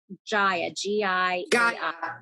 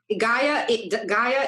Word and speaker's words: Gaia: do i access it it's an app called jaya it's called gaia is a is an app that well gaia